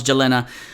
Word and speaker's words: Yelena: Yelena Belova, and yes, I pronounce Yelena a lot of times with a J instead of a Y.